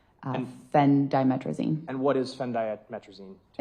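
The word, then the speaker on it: Phendimetrazine: Uh fen diametricine.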